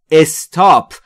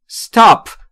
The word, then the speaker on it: Stop: توجه داشته باشید در مورد تلفظ Stop. دقت داشته باشید بسیاری از زبان آموزا به اشتباه تلفظ میکنن استاپ، در حالی که این لغت در ابتداش ا نداره. استاپ، استاپ ات یعنی تمامش